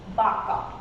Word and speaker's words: vaca: So in Spanish, though it's we mentioned as V, but we reduce the sound of B. So it's vaca and it's vino. So we produce B sound.